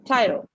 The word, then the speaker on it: tyro: So if you can see, the word of the day is tyro.